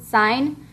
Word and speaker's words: sine: common trig ratios are sine that's how you pronounce it sine cosine and tangent so the abbreviation for sine